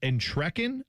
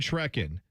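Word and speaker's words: Entrekin: Rachel and En and Trekken, I believe is how you say her last name. E N T R E K I N.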